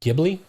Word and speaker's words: Ghibli: Ghibli?